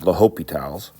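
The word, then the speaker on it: L'Hôpital: Actually, it's spelled hospital, but I've always heard it pronounced LHospitals.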